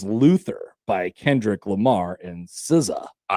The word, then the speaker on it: SZA: So now when you see SZA in all caps, you could say to all your friends, you could say, "I know how that's pronounced. It's Siza."